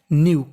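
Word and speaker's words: knew: का मतलब जानते थे अगर आपको कभी एन से पहले के लिखा मिले तो हमें के का उच्चारण नहीं करना होता हमें खाली एन का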